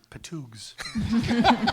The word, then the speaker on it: P''TWGS: How do you pronounce that? Patoogs.